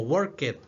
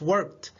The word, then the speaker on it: worked: Algunos lo han pronunciado como worked, ¿verdad? Pero no, es worked. Como si tuviera una pequeña T, ¿sí? Como una T.